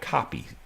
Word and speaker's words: Koppe: He told me to pronounce his name like Copy, C-O-P-Y, and even though it's spelled K-O-P-P-E. But anyway, and I'll remember that right now, Jim, but tomorrow will I remember it?